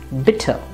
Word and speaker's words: bitte: repeat after me similarly this word would be bitter and not bitte but bitter that's it about